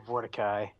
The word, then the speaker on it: Vorticai: So, Or Vorticai, which rhymes with Levi. Kind of.